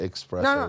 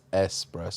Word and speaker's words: espresso: say espresso i know i said it expressed but it's espresso oh no i know